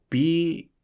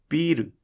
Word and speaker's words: ビール: This is "ビール". There are two syllables: "ビー" and "ル." There are three moras: "ビ," "ー," and "ル." So please fully lengthen the "ビー" in "ビール". "ビｰル" is too short.